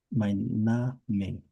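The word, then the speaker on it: mein: H I A C I C I remember remember EI is I I see.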